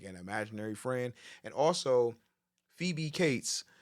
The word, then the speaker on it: Phoebe: And I had my little brain could not fucking wrap around why the fuck Phoebe is supposed to sound like Phoebe.